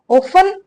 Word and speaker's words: often: ऑफन इसलिए कहते हैं इसको क्योंकि इसमें जो टी होता है ना ये साइलेंट होता है, तो हम इसे कहते हैं ऑफन, ठीक है।